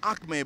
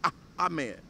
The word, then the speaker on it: Ahmed: together wait wait wait I said Amed but you say ahed ahed now you pronounce